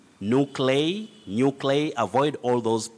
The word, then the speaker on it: nuclei: very tricky word that if you follow the spelling very closely you end up mispronouncing it you say nuclei nuclei nuclei don't say new clay nuclei nuclei avoid all those mispronunciations